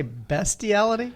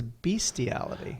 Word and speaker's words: bestiality: for example no um did you say bestiality isn't that how you pronounce it I had an argument with someone about this I thought it was beastiality well I know it's the best it's the best uh it's it's b s so isn't it isn't